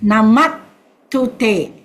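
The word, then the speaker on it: namatthu te: And then the last line is Namat Tute. Sister Sumitra has put a stroke, the double T, so you pronounce as N-A-M-A-T, Namat Tute.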